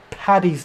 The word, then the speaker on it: Paddy's: Patrick's Day, but when pronouncing it, it's St. Paddy's Day, not Patty's Day, Paddy's Day.